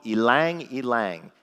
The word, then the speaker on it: ylang ylang: One was lavender, not a big surprise, and the other was something called ylang ylang. It's spelled Y-L-A-N-G, Y-L-A-N-G.